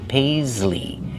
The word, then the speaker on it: paisley: Use the long A like say and pay. Pays. Use the Z sound like zebra. Paisley. And the long E like green beans at the end.